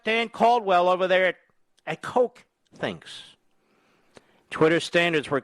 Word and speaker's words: Koch: That's Coke. And that's spelled K-O-C-H, not, C-O-K-E.